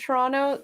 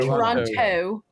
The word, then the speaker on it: Toronto: everyone else outside of Toronto pronounce it with the T Toronto Toronto Toronto but you know that that it's actually just an n in there Toronto we're really lazy